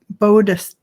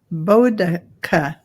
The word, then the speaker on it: Boudicca: And we just got somebody telling us how to pronounce. It's Boudicca. Bodica, Bodica. That's how it's pronounced according to Carolyn Booker. Bodica.